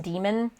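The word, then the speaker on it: dæmon: you haven't, but it's spelled with like the upside down AE character, and it's pronounced demon, but in this case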